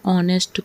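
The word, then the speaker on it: honest: तो जब हम ऑनेस्ट को प्रोनाउंस करते हैं तो ओ साउंड आता है जो कि एक वोवेल साउंड है।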